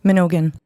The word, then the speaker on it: Mnogin: So how do you pronounce it? Mnogin? Mnogin.